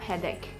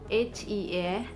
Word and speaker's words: headache: And also in the case of headache, H-E-A-D-A-C-H-E, headache, CH sounds as K, CH.